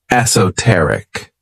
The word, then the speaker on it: esoteric: favorite adjectives is esoteric this word has four syllables and the stress is on that third syllable esoteric when we describe something